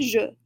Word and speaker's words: jeux: Un jeu becomes des jeux. Same deal. No change in pronunciation, just a change from un to des, and then adding our X.